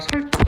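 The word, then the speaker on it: 섧다: 요거 같은 경우에는 보통 이제 뒤에 타락하는게 맞으니까 설다 이렇게 해야 된다는 거지.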